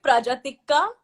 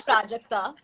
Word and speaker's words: Prajakta: He'll call me Prajatikka, but he can't say Prajakta.